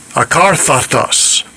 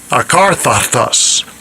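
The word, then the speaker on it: ἀκάθαρτος: Akarthatos. Akarthatos. Akarthatos. That's the Greek pronunciation.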